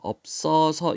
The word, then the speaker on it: 없어서: 가려줄 구름이 없어서 없어서 자 어서 뜻이 없으니까 시옷 뒤로 넘기는데 비읍 받침 때문에 서서가 아니라 써서가 돼요 없어서 이렇게 발음이 돼요 오늘 전국에서 자외선 지수가